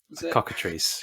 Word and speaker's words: cockatrice: it correctly earlier I'm not gonna try to pronounce it the cockatrice cockatrice yeah that's it that that depiction is one